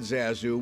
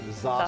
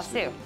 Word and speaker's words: Zasu: And hopefully all goes well at Zasu, which I learned from Sue is not how she pronounces the name of her restaurant.